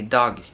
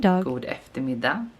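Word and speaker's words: dag: as if the me dog the way that they pronounce ectomy dog we say we don't pronounce the G sometimes we just skip the last consonant just so this is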